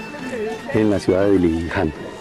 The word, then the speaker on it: Dilijan: en la ciudad de Dilijan. La J la pronuncian como Y.